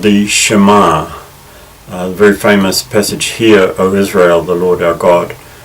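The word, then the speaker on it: שמע: Shema Israel, Yahweh Eloheinu, Yahweh Echad. By the way, it's usual in Hebrew for the last syllable to receive the emphasis. So we say Shema Israel, Yahweh Eloheinu, Yahweh Echad.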